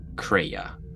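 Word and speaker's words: Kreia: but not very well uh how about uh craya spell it out and sure k-r-e-i-a throw it in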